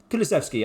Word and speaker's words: Kulusevski: Kulusevski, I was right.